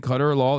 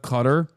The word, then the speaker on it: Qatar: You are pronouncing Qatar wrong. You keep saying Qatar law instead of Qatar.